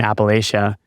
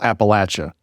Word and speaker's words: Appalachia: So like you said, I grew up in rural Appalachia, right? That's how we pronounce it and one of the jokes that people will say is, if you pronounce it Appalachia, I'll throw an apple at you, right?